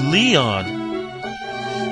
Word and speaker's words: Lion: But pronounced Leon. Sounds a bit strange for a Japanese name, does it?